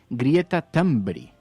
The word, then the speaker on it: Greta Thunberg: Hemos averiguado que se pronuncia Greta Thunberg. Greta Thunberg.